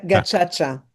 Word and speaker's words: Gacaca: part one with Anne Aghion Aghion with this Agaca. How do you pronounce it? Agaca? Gacaca.